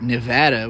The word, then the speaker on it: Nevada: Boise Boys well I also didn't know that Nevada was Nevada until I met someone from Nevada